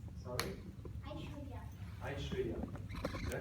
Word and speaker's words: Aishwarya: Aishwarya. Did I pronounce correctly? A-I-S? W-A-R-Y-A. Aishwarya.